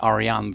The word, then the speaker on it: Arjan: Uh, so my name is Arian with a silent J.